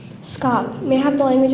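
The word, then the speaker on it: scaup: could you repeat the word please SC scop scop s c a u p scop optim optim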